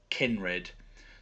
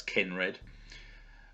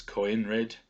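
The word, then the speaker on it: Coenred: with throughout the series, his name is pronounced Kenred. So that's a silent O there, so that's Kenred. Perhaps it's Coinred, but it's definitely the E sound is predominant.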